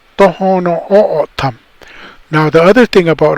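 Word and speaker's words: Tohono O'odham: And so we're now called Tohono O'otam.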